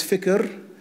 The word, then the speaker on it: fikr: One is fikr, which means to reflect on something. Fikr kind of rhymes with the other word we heard before, dhikr.